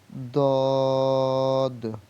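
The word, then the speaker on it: ض: আর এটার উচ্চারণ হবে সদ, সদ, সদ, দদ, দদ, দদ। এটা দ উচ্চারণ হয় না আর জ উচ্চারণ হয় না, দ জর মাঝখানে।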